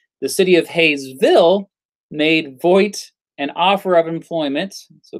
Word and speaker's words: Vogt: Vogt. I think is how you pronounce it. No, Vogt. V-O-G-T.